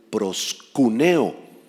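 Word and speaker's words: proskuneo: adoración Qué quiere decir proscuneo en griego con calles acento en la u proscuneo significa arrodillarse postrarse para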